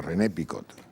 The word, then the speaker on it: René Picot: ocurrió fue renet picot no renny sino rené picot entonces recuerdo que fui